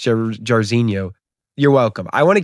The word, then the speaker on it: Jairzinho: So everyone who commented, who the fuck is Jairzinho, and it's pronounced Jairzinho, you're welcome.